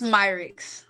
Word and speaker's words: Myricks: How do I pronounce it? It's Mixrix.